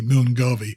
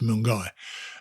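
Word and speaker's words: Milngavie: it milner i think they call it milgai it's spelled m-i-l-n-g-a-v-i which in my parlance that's going to be moon garvey but apparently it's mung guy and john and i got there we've both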